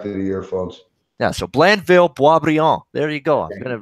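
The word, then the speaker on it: Blainville-Boisbriand: Yeah, the pronunciation. I was trying to get that correct. It's Blandville Boisbriand.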